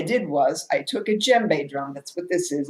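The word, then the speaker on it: djembe: was i took a gem bae drum that's what this is it's spelled e m b e you don't pronounce the d i don't do african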